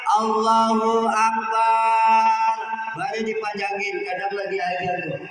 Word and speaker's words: Allahu Akbar: yang benar delapan ini harus dijaga atau belakangnya dipanjangin Allahu Akbar.